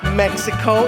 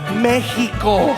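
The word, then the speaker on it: México: For me, it's not Mexico, it's Mexico.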